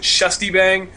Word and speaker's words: ShustyBang: It is SHUSTYBANG. A lot of people pronounce it Shustybang. It is indeed Shustybang. It's actually supposed to be a U with the 2 little dots above it, but you can't type it.